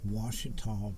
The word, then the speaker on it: Ouachita: I live in Monroe, Louisiana, Ouachita Parish.